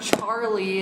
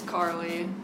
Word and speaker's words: Carly: hear about that and it's not charlie it's Carly anyways go check out